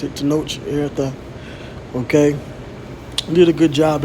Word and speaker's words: Tenoch Huerta: a still of Namor, played by this actor Tenoch Huerta. Okay, I believe that's how you pronounce it, Tenoch Huerta.